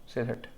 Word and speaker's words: Sylhet: तो east India company wanted to build a road linking Brahmaputra to सिलहट की spelling SYLHET, ठीक है, यूं सिलहट, ठीक है।